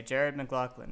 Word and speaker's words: Jared McLoughlin: Check the pronunciation. I'm going to say Jared McLoughlin.